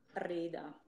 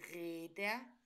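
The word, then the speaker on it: Räder: Ok, però tu l'hai detto giusto, però la pronuncia è sbagliato, perché tu hai fatto capire con la pronuncia come se fosse una E. Invece non è di reda, ma di reda.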